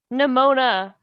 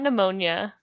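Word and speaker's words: Nemona: do it nimona pneumonia nimona not pneumonia not the illness it looks like pneumonia it does um yeah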